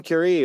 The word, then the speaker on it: Curie: They say it's Madame Curie or Marie Curie. That is correct. Curie. Nice. I knew it as Nicely Marie done. because it rhymes. Marie Curie rhymes.